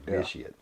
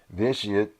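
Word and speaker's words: Vitiate: I'm trying to make sure I pronounce that right. Vitious.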